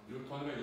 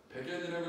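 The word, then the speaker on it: newton: 뉴턴의 이름을 따와서 뉴턴이라고 읽는 거예요. 여러분들 물리하는 사람들을 제일 맛보내기 쉬운 방법 중에 하나가 이거를 백엔이라고 읽어주시면 납빛이 변하는 걸 볼 수 있을 거예요.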